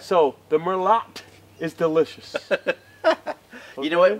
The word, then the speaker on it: Merlot: Lord I love Mero if you're from France the tea is pronounced but here in the United States the te is pronounced T that's right so the Merlot is delicious you know